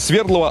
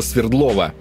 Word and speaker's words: Свердлова: в честь революционера Якова Свердлова Интересно что многие уфимцы ставят ударение в названии на первый слог вместо второго но при этом все